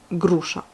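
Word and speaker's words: груша: Donc gr, il n'y a pas de souci, on a deux consonnes l'une à côté de l'autre, donc le g se prononce dur, grusha. Ensuite, le g il se retrouve à la fin du mot comme dans les mots ronds ou boués.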